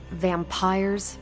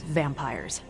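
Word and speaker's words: vampyres: said they were vampires vampires with a why pronounced exactly the same as vampires I suppose that was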